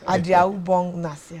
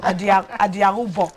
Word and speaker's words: Adiaubong nasia: Adiaubong nasia. Adiaubong nasia. Yes, but I think you're from Akwa Ibom. Yes, I'm from Akwa Ibom. You should pronounce it well. Adiaubong. Adiaubong nasia.